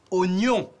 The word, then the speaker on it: oignon: Oignon.